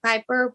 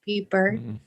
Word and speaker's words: Pieper: peber I know my last name looks like Piper but is pronounced peer right Kyle yep that's